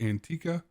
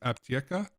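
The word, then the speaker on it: Аптека: of us North Americans looks like Antica, but I have been corrected that it is pronounced Aptieka, and this is considered pharmacy number 1 for this task.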